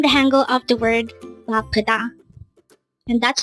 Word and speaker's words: 바쁘다: Again, it's BAPPEUDA. This is pronounced as a three-syllable word. The first syllable is ba, second syllable is p, and third syllable is da. Pronounce it with me. BAPPEUDA. Again, BAPPEUDA.